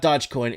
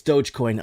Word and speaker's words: Dogecoin: iii and lord humongous it's not dodge it's doge oh i'm so sorry guys it's not dodgecoin it's dogecoin i'm i'm i didn't